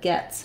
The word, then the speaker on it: gets: we have for example guest has the s and t sound but gets has the T and S sound so also making sure